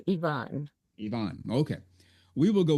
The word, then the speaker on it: Even: Well, it's spelled Even. So in Hmm. English in the United States, it'd be pronounced even. You know, Hmm. we're even, Steven. I'm even with you. Yeah. But in Norway, it's pronounced, say it again, to the best of your ability. To my best of my ability, I believe it's Yvonne.